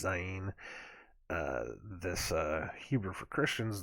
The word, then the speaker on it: Zain: i got that right za gene that's how it's how it's pronounced in king james it's z-a-i-n looks like zayn but it's zyein this uh hebrew for